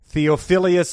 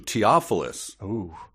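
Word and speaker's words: Theophilus: class presidents and her crushes deep weary sigh theophilius love laces and i prefer to call him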